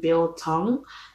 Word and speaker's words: biltong: you should try okay the first one being bill tong which is basically it's about b-i-l-t-o-n-g bill tong